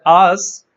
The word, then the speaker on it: asks: So there is a slight hissing sound at the end.